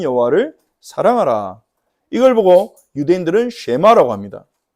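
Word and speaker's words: שמע: 이걸 보고 유대인들은 쉐마라고 합니다. 쉐마라고 하는 말은이 드라는 말의 히브리어 발음이죠.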